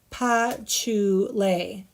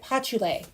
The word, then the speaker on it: patchouli: she is talking about pa chew lay oh that's how you say it pachule thank you for sending that out phonetically for me you guys crack me up so